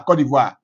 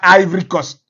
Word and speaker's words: Côte d'Ivoire: Côte d'Ivoire en anglais il a exigé qu'on prononce toujours même si vous parlez en anglais même si vous parlez en latin quand vous voulez appeler la Côte d'Ivoire dites la Côte d'Ivoire qu'on ne dise pas i cost non il a refusé